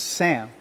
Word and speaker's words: Sam: It's Sam. Wherever I go in the world, it's Sam. It's Sam. It's some, I mean, it's like, no, it's Sam. It's like Sam. No, Sam. Sam.